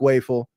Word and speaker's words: Wafle: And we're going to keep calling him Waffle around here. He will never be Luke Welful, which I understand is the proper way to pronounce that name.